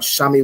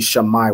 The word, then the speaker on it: Shammai: Wherever you see the letter I, you want to pronounce it as I, right? It's not Shami one or anything else. It'd be Shammai one, right?